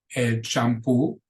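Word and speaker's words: champú: as elto means bathroom shampo shampoo so notice in Spanish it's a CH and shampo there is no sh sound in Spanish um in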